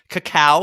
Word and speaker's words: cacao: based off of a cacao seed pod. A what? A cocoa seed pod. Oh, say it like an asshole. Cacao. That's what it is. It's cacao.